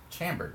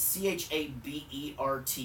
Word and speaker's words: Chabert: Lacey, is it Chabert? Was it produced by Shibert, something like that. The girl no, from Sherbert? 30 something. Lacey Chambert, right? Well, there's no M. It's Chabert.